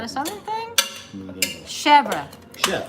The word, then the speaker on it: chèvre: What is chev? That sounds like Chev. a knife. Chèvre. It's a Chèvre. goat cheese. It's goat cheese. It's a very mild goat cheese. It's usually whipped. It's super spreadable. It's spelled chèvre. Yeah, it's but spelled pronounced CHEVR apostrophe E. Chèvre.